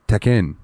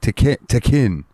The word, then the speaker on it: Tekken: I learned today that technically Tekken is pronounced Tekken. Like Tekken. I've never heard an English user double the K like that though.